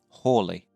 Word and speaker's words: Halley: Just a quick side note here, the pronunciation of Halley has always been a minor debate, but the correct saying is Halley. But Halley, and to a lesser extent Hawley, have also been used.